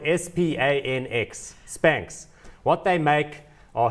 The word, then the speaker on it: Spanx: The company she started about 10 years ago is called Spanx. Now, it's spelled S-P-A-N-X, Spanx.